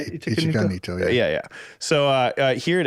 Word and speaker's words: Ichika Nito: Ichika Nito? Is that how you say it? Ichika Nito, yeah.